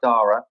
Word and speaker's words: Darragh: do for the books if you want to go full spell it's d a double r a g h dara dora and um you know